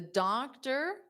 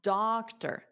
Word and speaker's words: doctor: And then the stress, which most of you got, doctor. So remember, this is just like Gordon. That OR at the end is not or. It's not doctor. Doctor. That's not right.